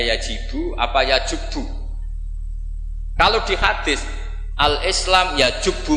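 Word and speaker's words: يجب: Itu bacanya bukan yajibu tapi apa? Yajubbu ayaktau. Nah kalau pas ini kamu baca yajibu kan, al-Islamu te Islam yajibu, pusing kamu.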